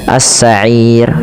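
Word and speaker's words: السَّعِير: Maka cara bacanya assa'ir dua atau empat. Assa'ir atau enam harakat assa'ir.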